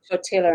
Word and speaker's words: tortilla: Tortilla. And I said, it's tortilla. You don't pronounce the L's.